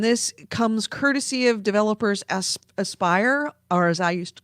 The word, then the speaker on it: Aspire: Academy and Jedi Outcast wait how you say it spelled ASP why are aspire I was looking at thinking asper no it's a spire and they have been